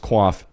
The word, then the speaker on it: coif: Nice pronunciation on the coif. I just learned it the other day that it's pronounced quaff.